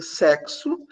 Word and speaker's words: sexo: vocês podem perceber que em sexo ou X tem som de KS peixe esse x né vai ter um som de ch de X próximo esse X tem um som desce e exame esse X tem som de Zé então é uma mesmo